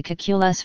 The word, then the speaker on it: Kekulé: The French accent had apparently been added to the name by Kula's father during the Napoleonic occupation of Hessa by France to ensure that French-speaking people pronounced the third syllable.